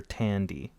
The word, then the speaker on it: Thandiwe: You don't pronounce the H. It's Tandy. What about the Newton. W at the end? There's a W back there. Where? It's THANDIWE. So it's Tandy.